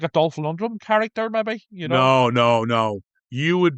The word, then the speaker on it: Lundgren: You're saying Lundrum. It's Lundgren.